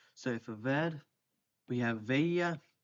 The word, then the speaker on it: veía: So for ver, we have veía, veía, with accent on the I, veías.